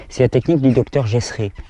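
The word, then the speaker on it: Gesret: C'est la technique du docteur Gessré. Gessré, ça s'écrit G-E-S-R-E-T, Gessré.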